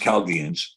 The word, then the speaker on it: Chaldeans: it's spelled like this say Chaldeans but it's pronounced calgians and truly the uh the original every is